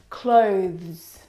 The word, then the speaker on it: clothes: Clothes clothes. Clothes. Now, the reason why it's especially difficult is because of the two final consonant sounds, the th and the zz plural sound.